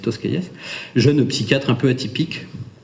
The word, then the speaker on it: Tosquelles: C'est pour ça que ça s'écrit Tosquelles, mais c'est Tosquelles.